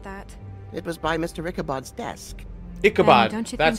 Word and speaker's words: Ichabod: Ichabod's desk.